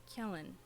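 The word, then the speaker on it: Quellen: it's not very secret my real name is Kellen my real name is Kellen Kell Kellen I'll spell it out for you thank you CU this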